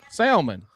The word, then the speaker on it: salmon: Salmon.